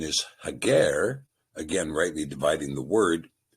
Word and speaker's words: Hagar: Now in this particular passage the sepher uses the word hagar as compared to the name Hagar which has been a pronunciation given to us by the maseretic nicodote. We believe the proper pronunciation is hager again rightly dividing the word and in the